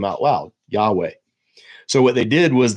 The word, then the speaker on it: Yahweh: not 100% certainty, but it was most likely pronounced Yahweh or Yahweh.